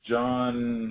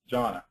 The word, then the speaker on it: Jonna: And that's John, what county? Jonna. I'm sorry. I've been pronouncing the name wrong.